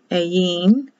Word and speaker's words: Ayin: Ayin, or spelled in the King James A-I-N, Ayin. I is pronounced like an E.